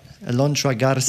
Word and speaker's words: Alondra Garza: Alondra Garza.